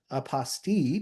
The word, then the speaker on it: apostille: And remember what I mentioned when we started earlier, I like using the pronunciation apostille because it rhymes with unrestricted fees.